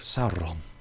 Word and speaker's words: Sauron: Very much enjoyed every single pronunciation of Sauron. They roll the R on every single time.